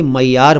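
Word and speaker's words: معیار: मतलब स्टैंडर्ड पैमाना कसौटी इस शब्द को ध्यान से देखिए मयार बोला है और ठीक बोला है लेकिन इसको मेयार मयार और कुछ और उच्चारण से भी बोला जाता है सब ठीक है लेकिन स्पेलिंग पर खास ध्यान दीजिए मीम न ये अलिफ और रे मयार या कोई दूसरा उच्चारण अगर आप इसका करते हैं तो वह भी ठीक है यहां अर्थ की बात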